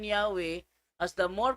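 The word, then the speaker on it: Yahweh: translation February 9, 1950 while inclining to view the pronunciation Yahwe as the more correct way we have retained the form Jehovah because of people's familiarity with it since the 14th century gibulo 14th century ito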